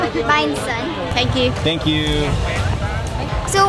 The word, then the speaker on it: Bánh rán: Bánh sán.